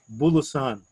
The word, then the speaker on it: Bulosan: And then on the bottom, a writer you may not have heard of by the name of Carlos Bulusan. It's spelled Bulosan.